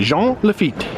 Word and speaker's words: Jean Lafitte: lafitte's blacksmith bar so I usually go with the French pronunciation I'm often told that